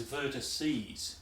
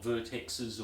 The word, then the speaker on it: vertices: should also say that the plural is vertices not vertexes or anything else i should spell that